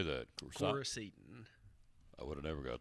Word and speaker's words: Coricidin: Coricidin.